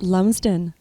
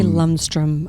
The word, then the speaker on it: Lumsden: Lumsden. People say Lumstrom. I don't know why. There's no T and there's no R.